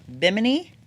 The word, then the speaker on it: Bimini: When we come back, we're going to talk about Bimini. Yeah. Is that how you pronounce Yeah. it? Okay, like a Bimini top.